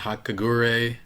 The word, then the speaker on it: Hagakure: I totally expected him to be super stupid, but Aoyama is pretty down there, and Denki and Hagakure. How do you pronounce her name?